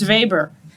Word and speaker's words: Weber: So, if you take psych classes, you'll see Max Weber or Max Vber uh if you will.